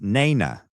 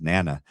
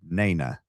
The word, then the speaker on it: Nana: It's Nana, because she spelled it out phonetically. I said it was Nana. She's like, no, it's said Nana.